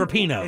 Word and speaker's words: Rapinoe: Is that how you say her name? It's Rapinoe. It's Rapinoe. It is Rapinoe.